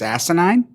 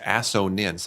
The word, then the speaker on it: assonance: It's asinine. No, it's assonance.